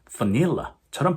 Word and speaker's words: vanilla: 예를 들어 강세가 두 번째 있는 바나나, 고릴라, 바닐라는 영어로 banana, gorilla, vanilla처럼 발음해줘야 영어 화자들이 쉽게 그 단어를 캐치해준다는 거죠.